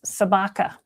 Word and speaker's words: Sabaka: His name is Sabaka, kind of rhymes with Chewbacca.